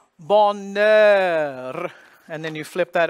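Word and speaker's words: bonheur: silent in French and H is one of those it is silent here so you would think it would be a nasal vowel because of the spelling but this is an exception to the rule so it's going to be open ball and then the end because the H is silent goes over to the N and then the vowel balnaird and then you flip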